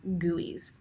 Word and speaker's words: GUI: have graphical user interfaces GUIs which are pronounced as gooeys in this class we're